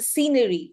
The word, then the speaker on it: scene: The scenery. Scene. Very good. Can I, with SC, the k sound should not be there. The k sound will become silent here.